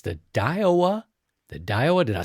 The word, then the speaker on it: Daiwa: I believe it's the Daiwa.